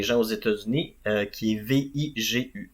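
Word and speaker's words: Vigue: ont proposé des prononciations mais on voit que c'est pas prononcé vigu évidemment ça semble prononcer comme ça l'indique en bas vigu en fait donc ça resterait un peu plus proche de Veilleux que de juste vigu en fait donc si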